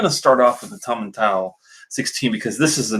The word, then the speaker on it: Tomintoul: I actually looked it up before I went on the pronunciation. Tomintoul 16.